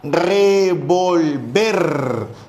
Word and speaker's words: revolver: Tenemos la palabra revolver, donde la mayor fuerza de voz, la sílaba tónica, el acento está en ver. Entonces pronunciamos revolver.